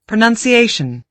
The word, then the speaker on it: pronunciation: Pronunciation. Five syllables, and the stress mark is on the fourth syllable. Pronunciation.